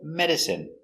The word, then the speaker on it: medicine: Pronunciation, medicine. Me, d, med, mede, s, medis, medici, medicine, medicine. Stress on the first syllable, medicine, medicine.